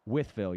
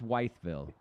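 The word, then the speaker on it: Wytheville: withv Virginia on Thursday is that how you pronounce that withv yes withv okay withv yes not not weville okay I was wondering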